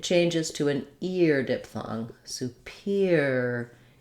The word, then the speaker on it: superior: superiority so we have superior superior has stress on the peer syllable and then superiori already